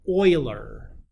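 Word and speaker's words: Euler: We call this number the natural base or sometimes we name it after the mathematician who discovered this uh that is pronounced oiler believe he's German.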